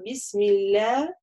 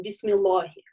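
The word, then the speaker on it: بسم الله: Это у нас здесь, так как перед ляфз-джаляля стоит касра, поэтому бисмилля мы говорим, а не бисмиллахи. Да, то есть это, ну, неверно, мы не делаем ее твердо. Часто некоторые так произносят, да, бисмилла, ну, неверно. Лям мягкая в этом случае.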